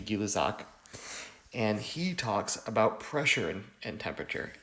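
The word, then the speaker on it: Gay-Lussac: have guillot socks law i know it's spelled gay luck but it's actually gillazak and he talks about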